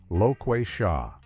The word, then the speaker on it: Loquatia: Their ship was controlled by a sassy female computer voice named Loquatia, pronounced Loquay Sha.